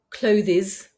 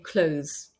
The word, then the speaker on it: clothes: matter instead of saying clothes or monthes which is a totally incorrect pronunciation you're better off deleting the th and saying close or months and in